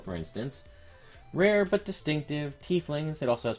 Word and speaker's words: tiefling: a tiefling is for instance rare but distinctive tea flings it also has pronunciations for those you who don't know how